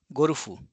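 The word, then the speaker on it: ゴルフ: So this is perceived as a short o robot robboto golf gorufu gorufu.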